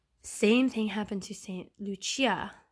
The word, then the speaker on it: Lucia: thing happened to saint lucia did i say her name is saint lucy it's actually lucia because she was italian well cecilia so anyway